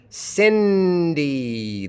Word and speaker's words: Cindy: Cindy. The vowels are not the same in the two syllables of Cindy.